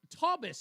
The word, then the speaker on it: Taubes: All right, we're back, folks, and on the line with us, as promised, attorney Taubes. Is it? Why do I want to say Taubes, but it's Taubes? Am I pronouncing it correctly?